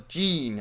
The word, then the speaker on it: Jin: You have another character, it's spelled Jin, but they pronounce it in the dub as Gene almost.